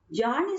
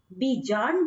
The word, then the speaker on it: Bjarne: और इनके नाम को प्रोनाउंस करने के तरीके अलग अलग कंट्रीज में अलग अलग हैं। कई जगह इनको जार्न स्ट्रॉयस्ट्रक बोलते हैं, कई जगह बीजार्न बोलते हैं और कई जगह बेयान बोलते हैं।